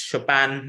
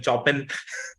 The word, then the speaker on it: Chopin: pieces got to know how to pronounce Chopin when I used to when I was in school I used to call him Chopin so things like this